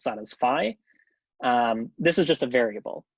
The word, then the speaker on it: phi: And then this phi variable that we see in here, you pronounce that as phi.